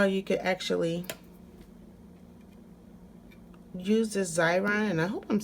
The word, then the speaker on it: Xyron: can actually use the xyron and I hope I'm saying it right I know that X is like pronounced like a Z and then you can